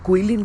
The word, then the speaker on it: Guilin: GUILIN लिखा जाता है, इस शहर का नाम है, बट इसको कहते हैं आपका शायद प्रोनाउंसिएशन जो है आपका कुइलिन करके शहर है, वहाँ निकल रहे हैं हम।